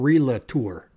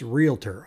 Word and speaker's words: realtor: would pronounce realtor correctly it's not re-la tour it's realtor r-e-a-l-t-o-r there isn't a u in there I see these people